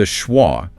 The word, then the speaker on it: schwa: The schwah which is represented phonetically as schwra is that relaxed central uh sound like the a in about uh exactly the